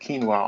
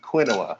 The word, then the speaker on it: quinoa: Now, when I first discovered quinoa, I thought it was pronounced quinoa, because that's how it's spelled. Quinoa. But it's not.